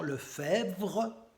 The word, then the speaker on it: Lefebvre: super gendarmes Christian marin Jean Lefebvre avec BVRE donc c'est pas facile à prononcer Jean le faire Guy Grosso et Michel